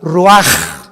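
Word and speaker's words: רוח: y exhaló Isaac el Roach así como suena se pronuncia la c en hebreo como J raj se le só y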